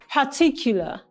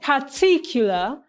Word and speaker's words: particular: Particular. The answer here is option D, disrespectful. The word particular has the stress pattern on the second syllable, making it a word with the stress pattern particular.